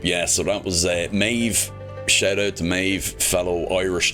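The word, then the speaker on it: Méabh: as they do mine so mave being an Irish name it's spelled m a e BH um so BH or an MH in Ireland is like a V so uh yeah mave is m a e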